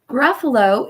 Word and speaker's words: Gruffalo: about the word Gruffalo Gruffalo is a word that has three syllables let's clap them out ruff uh low awesome let's try that